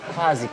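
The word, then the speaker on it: quasi: Em alemão não é qua, é qua. É como se fosse um KV. Quase. E o I é mais, né? Quase.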